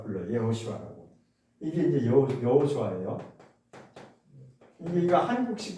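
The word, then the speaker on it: יהושע: 여호수아가 히브리어로 읽으면 어떻게 되냐면 이렇게 불러요. 예호수아라고 불러요. 예호수아라고.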